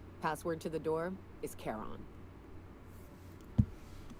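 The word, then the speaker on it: Charon: boat mind you I I've always pronounced it Sharon I mean it is spelled the t a CH but like I know but but it is technically pronounced Kon because of like letter Greek letters and stuff like that you know what's fun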